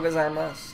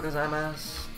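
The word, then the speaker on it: ございます: And then the gozaimasu is pronounced like arigato gozaimasu. Yeah. If I remember right, you don't say the U on the end.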